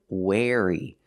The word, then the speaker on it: wary: or bad for you wary pronunciation wary using the air sound like chair and hair air where where like where is my car or I wear clothes where wear wary be wary of strangers